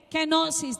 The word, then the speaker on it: kenosis: Es una palabra griega que se lee kenosis. Dígalo conmigo, kenosis.